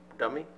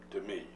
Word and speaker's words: Demi: Dummy? No, Jim. Demi. That's how she pronounces it.